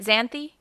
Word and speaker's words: Xanthe: super appreciate that so am i pronouncing your name right xanthe yes that's right and your last name